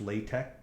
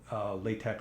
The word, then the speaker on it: LaTeX: I have $2, so this just tells it this is LaTeX, LaTeX or latex, however you want to pronounce it.